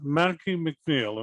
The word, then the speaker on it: Mackey McNeil: Mackey McNeil? Am I pronouncing it correctly?